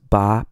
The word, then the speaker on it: 吧: this character is pronounced ba ba and this character is not pronounced in a particularly strong tone it's normally unstressed when you hear it